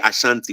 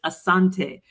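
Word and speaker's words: Asante: the people of Asanti we don't say Ashanti we say asan I'm so glad you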